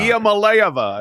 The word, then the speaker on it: Iamaleava: Iamaleava, I believe.